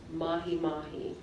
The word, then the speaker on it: mahi-mahi: Mahi-mahi. Mahi-mahi. M-A-H-I, M-A-H-I. That is correct. Your word can have the accent on either one of the syllables. I'm going to pronounce it both ways.